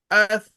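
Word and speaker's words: الثواب: So al thawab is will be pronounced very difficultly. So we will skip one Sakina letter here. And we will pronounce this as, when we join these two, we will pronounce it as Athawab.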